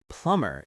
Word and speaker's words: plumber: Plumber is the person who fixes water pipes. Note the B is silent. Plumber, not plumber.